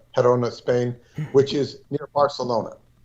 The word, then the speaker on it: Girona: um verona you're gonna in english you're gonna pronounce it girona spain verona perona is the g is pronounced herona herona spain which is near barcelona and this is